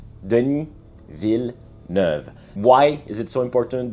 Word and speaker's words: Denis Villeneuve: about the movie and yes it's pronounced Deni V Deni V why is it so